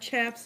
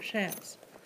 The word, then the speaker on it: chaps: They're not chaps, they're shaps.